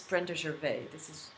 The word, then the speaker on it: Gervais: Actually, Brenda has it's Brenda Gervais. This is how you call her. But Gervais, her last name is obviously of French origin, and so I would pronounce it Gervais.